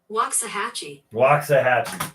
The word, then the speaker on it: Waxahachie: Pronounce Waxahachie. Waxahachie.